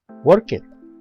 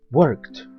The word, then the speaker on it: worked: como en el ejemplo no se pronuncia worket la letra e no suena y la d suena como una t worked repite nuevamente worked son sonidos